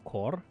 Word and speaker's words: Kore: is the um uh Kore or core which is spelled as k-o-r-e and uh it's this